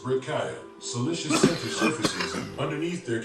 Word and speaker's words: breccia: Researchers in Yellowstone's hydrothermal areas have noted that when you disturb the bleach white broken up, or what geologists would call breccia, pronounced breccia, siliceous center surfaces, underneath there can be a thin layer of deep dark green due to the presence of photosynthetic pigments.